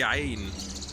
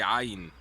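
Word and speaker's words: عين: muscles that move, and these muscles are the ones that you move when you pronounce the Ain. So if you swallow, these muscles, the same muscles you move when you pronounce the Ain.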